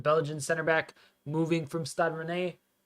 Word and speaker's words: Stade Rennais: The Belgian center back moving from Stade Rennais. Stade Rennais, I believe it's pronounced.